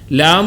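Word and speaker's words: لام: ലാം എന്നുള്ളത് വായുടെ ഭാഗത്തു നിന്നാണ്. വായുടെ അകത്തെ ഏറ്റവും കനത്തിൽ അല്ലെങ്കിൽ ഏറ്റവും ബുദ്ധിമുട്ടിൽ പറയുന്ന ഒരു വാക്കാണ് ലാം എന്നുള്ളത്, അല്ലെങ്കിൽ ഏറ്റവും ശക്തിയിൽ വരുന്ന.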